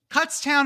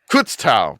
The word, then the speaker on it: Kutztown: Cutstown and Frostber State. My guy. Pronounce that one again. Kudson in France. Kutztown.